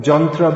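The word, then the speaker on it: यन्त्र: Then, the Ya in Sanskrit often becomes pronounced as Ja. Therefore you've heard Srila Prabhupada pronounce yantra, which means machine, which is not used in modern Indian languages.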